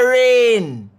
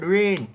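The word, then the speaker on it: reign: The G is silent and the letter N is pronounced.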